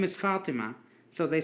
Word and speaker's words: Fatima: Then the name Fatima, it's a common name, Fatima, is Mm-hmm. actually Fatima Tun. Fatima, the t sound at the end.